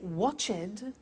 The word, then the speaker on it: watched: Now, the temptation is to say watched, danced, laughed, washed, but we eliminate the E and we add T.